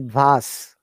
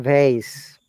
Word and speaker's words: vase: what both are correct british accent we call it vas with zed soundness buzz but american vase okay let me show you guys yeah you are confusing both of you americans sound as ss but british sound at this one vas as sounds like that okay let me show you i've got it from the dictionary so that can you sell face really teacher both are correct right you got to be